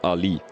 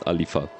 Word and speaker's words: Ali: the Williams driver in P2 is called Ali so not alifa yeah I'm making that